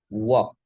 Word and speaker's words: walk: Berjalan kaki itu cara bacanya walk. W-O-K. Walk. Bagaimana dengan bekerja? Bekerja itu pakainya e. Terus ada slightly R di situ. Work pakai e. Jadi bekerja itu e, berjalan itu o.